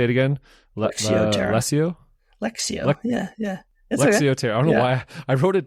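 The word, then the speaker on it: lectio: okay how do you say it again lexio lexio yeah yeah lexio I don't know why I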